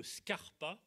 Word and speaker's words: Scarpa: dans le ganglion de scarpa comme ça se prononce sca rpa quand lyon de scarpa